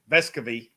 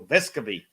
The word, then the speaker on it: Vescovi: chandler if i go vescovi as they say on it evidently been pronounced unnamed wrong the whole time so vescavi so if those three